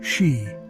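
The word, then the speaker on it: sídhe: They retreated into ancient hills, caves, and mounds called seday, pronounced she.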